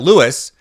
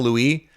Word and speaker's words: Lewis: Speaking of outstanding athletes, Kyle Lewis, who I think at one point I called Kyle Louis, like I gave him the French pronunciation, from Pittsburgh.